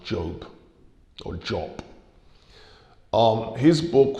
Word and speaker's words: Diop: and to diop um diop is the pronunciation we use in english but apparently senegalese people say it's pronounced job or job um his